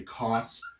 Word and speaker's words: cosine: Sin is sort of and this they might say cos instead of cosine. That would just sort of be shorthand, and here would be tan or tangent theta.